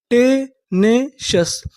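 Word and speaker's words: tenacious: आई ओ यू एस अगर आपको English में कहीं पर सी आई ओ यू एस लिखा मिले तो हम लोग सी आई ओ यू एस को पढ़ते हैं शस तो हमारी पूरी मीनिंग क्या बनी?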